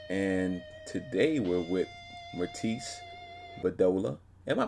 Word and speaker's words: Bedolla: And today we're with Myrtis, Bedolla. Am I pronouncing that right, Myrtis?